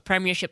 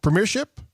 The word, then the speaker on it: Premiership: There's 4 syllables.